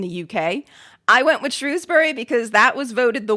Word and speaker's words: Shrewsbury: Aberystwyth, and also said, "For Shrewsbury, some people pronounce it Shrews, some people use Shrows. I can never remember which one the locals use. Whichever way you pick, you'll probably annoy someone."